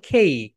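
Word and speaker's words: cake: My dear soldiers, right pronunciation কি বলতো? খেইক। ওকে, খেইক, আমরা বলি কেক, খেইক।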